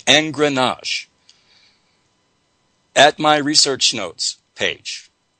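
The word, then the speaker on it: engrenage: new word to examine and this word is pronounced n grenache it is spelled e as in edward n is in nancy g r e n as in nancy a g e and grenache at my research notes page invisible surf's collar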